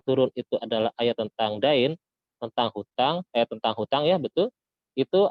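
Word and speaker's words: دين: akhiru ayatin nazalat ayatud dain, bukan ayatud din ya, salah baca. Kalau din itu agama, ini bacanya dain.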